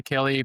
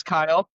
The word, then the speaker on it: Kyle: So hi Kelly, please tell us about yourself, but also if you can pitch your idea, what you want to build today with us.